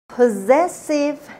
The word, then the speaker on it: possessive: Possessive nouns. همین ابتدای کار دقت کنید به تلفظ این کلمه. double s اول رو با صدای ز میخونیم. possessive نخونید. possessive nouns.